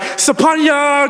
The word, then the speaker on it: Sophornya: It's Sophornya. The PH in my name is pronounced like a P and less of an F sound.